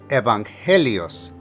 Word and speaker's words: evangelios: four gospels for evangelios but the emphasis of pronunciation on the second e evangelios evangelio now as an